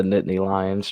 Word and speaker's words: Nittany Lions: Penn State Nittany knit frick the line it's pronounced the Nittany Lions chance and yeah there you go you can't